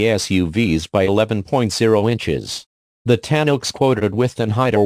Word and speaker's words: Tanoak: US Pacific region and it is pronounced tan oak like the tree built on the same